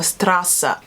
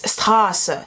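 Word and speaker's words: Straße: it's not street or strassa it's estarsa you have to kind of take it from the throat and push it out and this is kind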